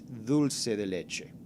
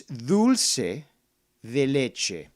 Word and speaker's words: dulce de leche: two totally different things if you pronounce it in spanish which is where it comes from it is that that part of the hispanic south american culture it's dulce de leche simple as that now